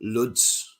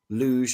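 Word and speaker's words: Łódź: hear lublin krakov um ludz luge as you pronounce it and warsaw so get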